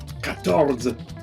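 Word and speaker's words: quatorze: des in French is tre t 14 is ctors ctors ctors 15 is cans cans and says is 16.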